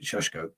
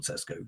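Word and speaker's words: Šeško: This is how you pronounce it, Sheshko, not Sesko, Sheshko.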